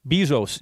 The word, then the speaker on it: Bezos: Bezos.